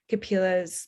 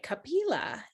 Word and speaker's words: Kapila: Okay, see it so it's Kapila. Okay, Kapila.